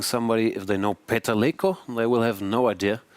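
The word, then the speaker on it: Lékó: Also, it's Leko, not Leko, because there he has a little accent on the E, so it's a different letter than the regular E.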